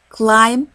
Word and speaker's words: climb: climb a mountain واحنا نقول climb will be silent ما بننطقهاش.